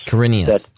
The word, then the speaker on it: Quirinius: Quirinius.